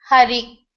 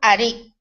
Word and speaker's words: Hari: If we were able to control the power pranashakti and throw a little bit air while pronouncing Hari, then it will come like H-A-R-A. If we couldn't throw the air, it will become Ari.